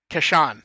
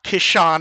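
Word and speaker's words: Casshern: down people like you're looking for kashan it's like it is not kishon i'm 100 i know what kishan is kashan cashern however you want to say it right because the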